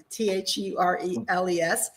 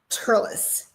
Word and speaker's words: Thurles: but it really is Turles, and don't ask me why, but that's how they pronounce Thurles. They pronounce it Turles, and it's a Gaelic influence. They don't pronounce THs here.